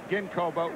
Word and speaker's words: Ginkoba: is that we've been pronouncing Ginkoba with a soft G all year. It's tough to break habits now, Steve. and you're saying that we should pronounce it with a hard G.